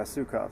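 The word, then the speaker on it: Suecof: Yeah, Sukoff, that's how you say his last name.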